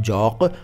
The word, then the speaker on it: जौक़: जौक़ देखिए दोनों शब्दों में क के नीचे नुक्ता लगेगा, लेकिन पहले वाले शब्द में यानी जो अभी मैं बता रहा हूँ जौक़, उसमें हिंदी में ज के नीचे नुक्ता नहीं लगेगा।